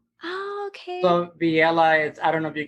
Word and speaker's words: Villela: So my Italian friends that help me out with strings and stuff, they're going, Villela. I like that. Villela, because it sounds a little Italian, Yeah.